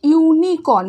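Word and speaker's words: unicorn: বসালাম না, এ বসালাম, বিকজ এটা কি উচ্চারণটা কি হচ্ছে ইউনিকর্ন, ওয়াই এর উচ্চারণটা হচ্ছে।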